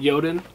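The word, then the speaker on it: Jotun: and check it out it's called yoden but it's spelt j-o-t-u-n bahala edition i don't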